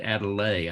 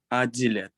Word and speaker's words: Adilet: because I had said Adelaide. I thought it was like a long E. I was hearing it as an A, but you said Adelet, right? Pronounce is Adilet. Adilet. Is that close?